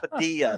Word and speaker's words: Padilla: know and I'm like no sir it's Padilla the L's make a y you know and I